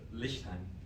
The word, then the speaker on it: Lichtheim: Is that how you pronounce that name? It's German? Lichtheim.